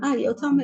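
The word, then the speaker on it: יותם: Yotam is integrity. That's how you say it in Hebrew.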